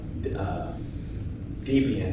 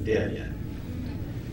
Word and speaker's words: Debian: also got it right that is not U deviant it's deviant so that's uh that's